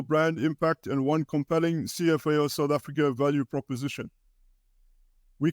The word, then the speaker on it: CFAO: make sense of it cfao is pronounced as it says cfao and not Safar cfao stands for coroporation